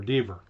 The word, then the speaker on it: Deaver: I'm gonna Deaver. Which one is it now? Rhymes with beaver. Deaver.